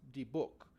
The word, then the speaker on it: dybbuk: a Jewish demon box I'm not sure I'm not 100 sure if it's pronounced de book or deepik but I I checked a few translation things and they all said it's pronounced the book uh uh so hopefully I'm getting that right uh but anyway the